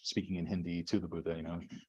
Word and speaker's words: Buddha: in Hindi to the Buddha. Rather than calling him Buddha, they're calling Buddha, is the way they say it in Hindi. They take off the last syllable.